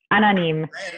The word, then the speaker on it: Anonyme: Is that how do you pronounce that? Anonyme. Anonyme.